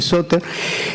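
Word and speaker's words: σωτήρ: Salvador significa soter, en griego se pronuncia o se escribe soter.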